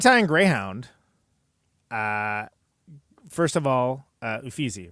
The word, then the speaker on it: Uffizi: First of all, Uffizi, right?